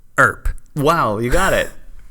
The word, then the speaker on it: Earp: Earp. Wyatt Earp. Earp. All right. His name's Wyatt. Sounds like burp. Earp. Wow, you got it. It's only been all I'm doing day. it. I'm doing it. Earp.